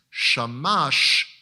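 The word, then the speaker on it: שמש: for the fact that it's the vowels under that tell you that the word is pronounced shamash and it is the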